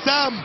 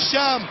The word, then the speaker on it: الشام: أنها تسمية ولكن نطقت، الأصل هي سام، ولكن اللغة هنالك الغالبة كانت تقول شام فسميت شام، ولكن الأصح سام، ترجع الكرة مرة أخرى،